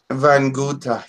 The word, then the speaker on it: Vaikuntha: They want to know about your relationship to a place, I hope I can pronounce this right, Vaikuntha and the Kailash Mountain. There, Kailash, yes. And Vaikuntha. Vaikuntha, yes.